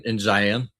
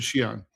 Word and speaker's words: Xi'an: Is that way in Western China, like in Xi'an? Xi'an. No, you pronounce it Xi'an.